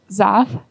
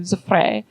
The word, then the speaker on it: Zaffre: Zappa, or like Zaff, I've heard that one. I've heard people say that one. I agree. She would be okay with that. But if you pronounce it in the French manner, if you do Zaffre, you roll that R, you do the weird F thing in French, she doesn't like it.